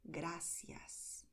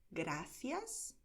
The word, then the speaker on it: gracias: En español decimos gracias, pero también podemos decir gracias. Son dos maneras correctas de decir esta palabra. Gracias y gracias.